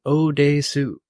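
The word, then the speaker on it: 오대수: the adaptation yeah I also learned how to pronounce the main character's name Odes Su that is correct ODU okay I was just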